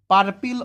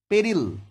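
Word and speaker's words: peril: অনাদার chance আরেকটা সুযোগ নাও two avoid the পার্পিল of your life আচ্ছা এটা উচ্চারণটা পেরিল হবে পি আর আই এল পেরিল অর্থাৎ বিপদ বা ঝুঁকি এর বাংলা মানে টেক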